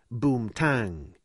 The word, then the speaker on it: boom ting: was also outlandishly unique they called heroin boom ting but pronounced it boom tang so heroin was boom